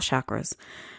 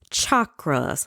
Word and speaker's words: chakras: asking more questions about chakras first of all the actual word is pronounced chakras like chalk and okra chakras but the country in